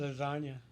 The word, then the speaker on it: lasagna: one for me cuz that g that silent G lasagna yeah I can't even